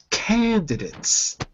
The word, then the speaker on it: candidates: now listen carefully and notice I'm not saying dates I'm saying dits candidates now you candidates candidates